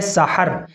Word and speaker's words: سحر: ہا کے ساتھ سحر، سین کے اوپر بھی زبر ہے اور ہا کے اوپر بھی زبر ہے، سحر، اس کے معنی آتے